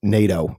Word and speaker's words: Nadeau: at all in fact my dad would pronounce the name NATO which is like the American pronunciation okay and we'd always